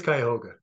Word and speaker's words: Cuyahoga: the the park Cuyahoga it is Cuyahoga Cuyahoga Valley yeah um yeah and that's uh that's a um Seneca word um from this region